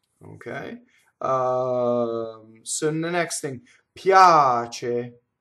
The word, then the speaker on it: piace: So the next thing, piace, right? Now, piace, this is a semi-vowel. It's not piace, right? Piace. Notice that the ch is single.